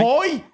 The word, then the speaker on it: Hoy: Chris Foy's got cancer. On your way. Hoy.